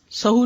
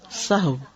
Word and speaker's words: سہو: کا فعل بھی ہے۔ سہو ہوتا ہے، سہو نہیں ہوتا، سب لوگ اپنا تلفظ بھی درست کر لیں۔ سہو جیسے لغو، ٹھیک ہے، کرب، نفس، سہو۔ سجدہ سہو کے اسباب،